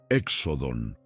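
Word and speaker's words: ἔξοδον: Éxodon, éxodon. Sí, has escuchado correctamente la pronunciación.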